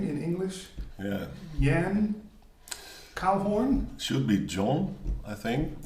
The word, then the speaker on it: Koehoorn: But in Dutch, it's pronounced Jan Koehoorn.